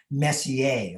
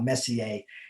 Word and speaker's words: Messier: It's actually pronounced more like Messier.